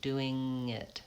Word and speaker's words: doing: So yeah, we do link doing and it, but we don't have a G sound in there, just the NG, doing it.